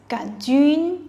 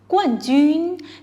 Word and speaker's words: 冠: one Jun means Champion notice that has o sound and is pronounced the way the four tone which is a falling tone go on one resembles